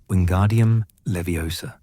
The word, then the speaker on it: Wingardium Leviosa: Flitwick pronounced each syllable clearly emphasizing the second I in leviosa. It derives from the Latin leves meaning light. And well, we needn't get into a full ethmology lesson on your first day. The key is wingardium leviosa. Not Levios, not Leviosa, Leviosa.